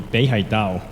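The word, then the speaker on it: 北海道: shohei I'm from Hokkaido in Chinese pronunciation is maybe Bay High Dao some people may know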